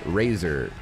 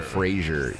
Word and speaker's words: Fraser: Brendan Fraser corrected Adam Sandler that his name is pronounced Razor. not the TV show Frasier.